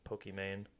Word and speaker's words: Pokimane: is Iman, but then she loves Pokemon, and so she made it like Pokimane. Is how you pronounce it.